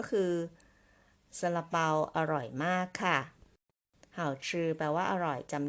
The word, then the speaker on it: 好: เสียง ที่ 4 ค่ะ ก็ คือ คำ ว่า How นั่น เอง นะ คะ How ไป ดู กัน